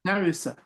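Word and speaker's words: Naruse: How do you pronounce that? Narusa.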